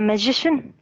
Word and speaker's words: magician: Yeah, it's like musician. The stress. The stress in the middle. Yes, the stress is in the in middle. the second syllable. Correct. In the second syllable. Correct. Magician, musician, technician. So the CIAN is shin.